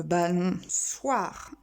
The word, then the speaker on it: balançoire: Une balançoire avec le O si nous voulons le son ce, c'est cédille. Un soupe con, un soupe son.